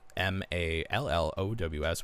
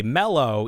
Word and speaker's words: mallow: product squish Ms because in America we it's like you know originates from marshmallow and we say mellow even though there's an a like a lot of the times the way that Americans pronounce things doesn't make any sense but you you you respect the a you say malow malow malow yeah so